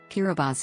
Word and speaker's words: Kiribati: Kiribati is the official pronunciation as T in the Gilbertese language makes an S sound.